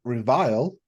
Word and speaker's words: Revile: We also have Revile for everything but the Switch. I want to say it's Reveal. Revile, Veil, Reveal. It's not Reveal because there's no A, it's an I.